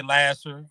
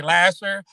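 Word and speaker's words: Lahser: lasser and uh a lot of folks say lasser but it actually is pronounced lasser. L a h s you know for folks that say lasher lasher is ls r.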